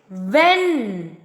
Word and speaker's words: when: Next, when. In when, H is silent. Okay. So, W-H-E-N. When. Okay. It is a 4-letter word, but it has only 3 sounds.